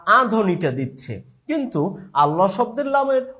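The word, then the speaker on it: الله: লাম হচ্ছে পাতলা। কিন্তু ব্যতিক্রম হচ্ছে আল্লাহ।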